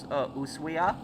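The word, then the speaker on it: Ushuaia: Um Osuya. It's written us, but it the H is silent.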